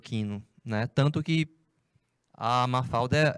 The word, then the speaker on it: Mafalda: Em espanhol, eles pronunciam Mafalda.